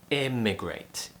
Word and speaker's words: immigrate: slightly and the other one is with an e sound lift your tongue up slightly not too high just around the sharp edge of your top teeth and immigrate immigrate so we have e emigrate immigrate when you leave your